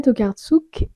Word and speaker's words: Tokarczuk: d'une âme égarée d'Olga tokartsuk et de Johanna consceo il me semble que c'est comme ça à peu près que ça se prononce en polonais donc Olga tokartsuk et